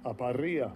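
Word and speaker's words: ἀπορία: Let's see what this pronounced correctly is. Strong's G 640, aparia.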